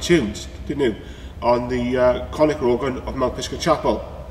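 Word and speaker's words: Conacher: As you always know, it's the Conker organ. No, said it wrong, it's the Conica.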